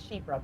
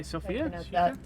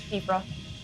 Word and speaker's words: Shifra: first threat that is It's Shiffra, by the way. Mhm. Shiffra. Shiffra. What did I say? Sophia. You said Sophia. It's Shifra. Shra. It's Gaelic. So, I had to actually look up the pronunciation.